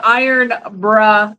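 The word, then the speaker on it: Irn-Bru: from uh Amazon and it says pronounced iron bruh Gets You Through that's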